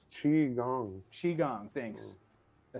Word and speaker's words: Qigong: pronounced Qi Gong.